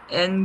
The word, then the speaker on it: Haine: N Guillotine. It's like N, the letter N, the letter N. You cannot pronounce it the same.